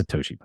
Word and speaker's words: Satoshi: It's Satoshi.